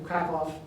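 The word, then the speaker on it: Kraków: publish pronunciation the W at the end of crackoff is pronounced as a B you see in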